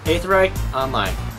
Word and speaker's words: Aetherite Online: Okay, let's take a moment and just pronounce that out because that's a common question that I get. Aetherite Online.